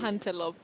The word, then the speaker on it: antelope: You don't say ante. Ante, no. Okay. You say antelope. No way. Just like we talk of elephant, not ele. Le, no. Li. Elephant, elegant, antelope.